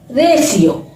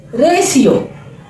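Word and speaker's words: ratio: promotion promotion देखा बच्चों आप लोग अगर टी के बाद आई ए आई ई आई ओ आदि वर्ण दे रखे हो तो टी की ध्वनि क्या हो जाती है श श टी की ध्वनि श हो जाती है हमारा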